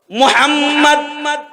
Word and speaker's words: মুহাম্মদ: মুহাম্মদ মুহাম্মদ এমন একটা নাম যে নাম উচ্চারণ করতে যাও দুইবার চুমা খাইতে হয়। মুহাম্মদ ঠোঁট দুইবার মিলে।